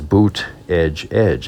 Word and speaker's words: Buttigieg: So very early on in the campaign, it was boot, edge, edge, and I have a cap that says that.